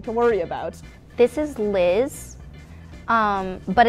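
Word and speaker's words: Lyzz: This is Liz, but it's spelled L-Y-Z-Z.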